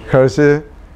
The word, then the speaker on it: Hergé: ¿Se pronuncia así, Hergé? Hergé.